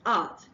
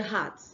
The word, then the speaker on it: art: A-R-T, which is art, they say heart instead of art.